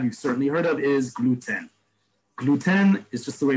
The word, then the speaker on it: gluten: In Hebrew, because Hebrew, we read out every letter. We don't have silent letters like we do in English. It's like Spanish in that respect. There's a letter that we otherwise wouldn't pronounce in English, we do in Hebrew, right? Like gluten. You heard how I pronounce it gluten. It's gluten.